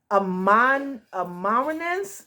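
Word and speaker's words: Amanirenas: So the queen Amaranthanes is how her name is pronounced.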